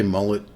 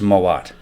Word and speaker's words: Mowat: Did you say Mullet Township? Mullet? No, No. Well, it's Mowat. Mowat Township. Mowat. Yeah. Mowat. Spelled like that.